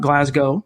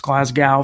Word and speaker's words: Glasgow: deal with Graham Glasgow which is how I believe it's pronounced it's not Glasgow its Glasgow from what I've been told four-year deal 44 million